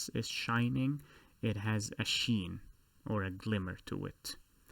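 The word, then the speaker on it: شين: the three dots and this letter is known as sheen which is the s h sound in english the scene is the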